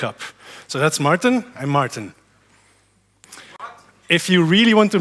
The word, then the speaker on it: Maarten: well do be aware there's two Martin's here and it's pronounced the same and it's super annoying